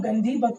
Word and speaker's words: गंधी बग: बहुत सारे लोग इसको गांधी बग कहते हैं। एक्चुअली जो प्रोनाउंसिएशन है वह है गंधीबग, गंधीबग। नाउ हम इसके डिस्कस करेंगे।